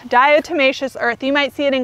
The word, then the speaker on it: diatomaceous earth: say this and i'm gonna say it wrong diatomaceous earth diatomaceous earth you might see it in gardening groups people